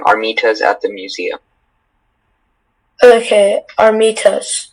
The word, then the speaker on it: armitas: Okay, Armitas. Am I saying it correctly? Armitas. Armitas. A-R-M-I-T-A-S.